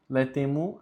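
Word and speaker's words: laetemur: Letemo, aqui tem um A mudo, e no celis, o A ele é mudo, porque ele está próximo da letra E.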